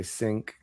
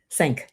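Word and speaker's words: cinq: Uh, I say sync. Sank. Sank. Yeah, sank.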